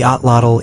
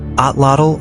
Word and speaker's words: atlatl: A lot of English speakers say Atlatl or Atlatl, but in Nahuatl, the final L isn't its own syllable, so the correct pronunciation